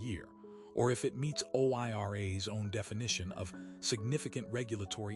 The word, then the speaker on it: OIRA: OIRA, pronounced OIRA, sits inside the Office of Management and Budget inside the Executive Office of the President.